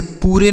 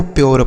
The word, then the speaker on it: pure: PURE, इसे पूरे नहीं पढ़ेंगे या पूरा नहीं पढ़ेंगे, कुछ नहीं, इसे आपको प्योर पढ़ना। पी से आधा प, यू का उच्चारण यो हो गया, RE से र, यह क्या लिखा है आपका? प्योर लिखा है।